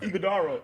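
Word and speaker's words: Iguodala: Oga Hagadero. Oh, snap. I broke that down. Go ahead and say it. Iguodaro.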